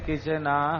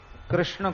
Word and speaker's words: कृष्ण: आपका ऐसे नहीं चलेगा कृष्ण को कृष्णा कह दो यह मंत्र में नहीं चलेगा राम को रामो बोल